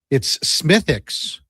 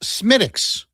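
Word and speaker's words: Smithwick's: It's Smithix. The W is silent, okay? IMAX says, hey, so the dude from Sherbrooke was in with Gregor. It's pronounced Smittix. So one guy says Smithix, one guy says Smittix.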